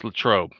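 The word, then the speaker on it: Latrobe: It's Latro. I don't care what the locals say.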